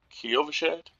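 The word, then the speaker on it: Kyovashad: So, we will continue this uh in the next video and we will travel with this guy to the uh Kovashad. That's how you pronounce it. Kiovashed.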